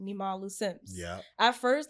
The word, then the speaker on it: Nimalu: I've gotten, like it's just like, yeah, Niamalu. I'm like, bro, it's literally Nimalu.